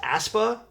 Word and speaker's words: Aespa: It's pronounced Aespa. I just told Aespa.